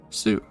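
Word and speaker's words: す: pronounced like so nice again in the saw column we have a little twisty loopy where a kid probably got knocked off a sewing pronounced sue nice another one from the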